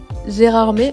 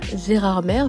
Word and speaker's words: Gérardmer: pour découvrir les lieux Gérard m encore une fois et non pas Gérard mer parce que je vous avoue que nous on a mis un petit moment avant de s'y faire donc gérardmet c'est une super belle